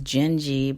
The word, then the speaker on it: Dindi: The name of the song is Din, but it's spelled Dindi.